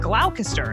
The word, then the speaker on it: Gloucester: Like originally I said Gloucester instead of Gloucester. Well, that's why I downloaded Audio Shakespeare Pronunciation app.